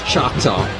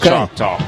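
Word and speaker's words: Choctaw: came in from Arizona I want to say it's chock talk c h o c t a w I've never been to Arizona so I don't know my accent my dialect that is chalk talk because there's a chalk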